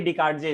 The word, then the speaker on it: Descartes: Renee DESCARTES, Renee डिकार्डजे इसको हम लोग प्रोनाउंस करेंगे, ठीक है।